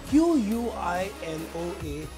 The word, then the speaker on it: quinoa: Now you can do a lot of things with quinoa, Q-U-I-N-O-A, but pronounced quinoa.